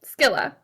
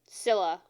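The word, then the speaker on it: Scylla: that um one second skilla Sila Sila yeah the C's not pronounced the way you it's a k and mine oh that's why I said skilla I've only ever heard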